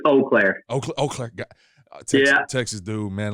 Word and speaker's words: Eau Claire: Eclair, I believe is how you pronounce it. I believe it's Eau Claire.